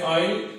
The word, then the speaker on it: isle: Also, isle, which means island. The S is silent, we say isle as we say island.